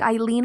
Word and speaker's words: Ilean: And Ilean is spelled like Eileen on a wall.